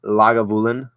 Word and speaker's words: Lagavulin: Just starting my unboxing of my Lagavulin, which is the correct pronunciation on how to say that.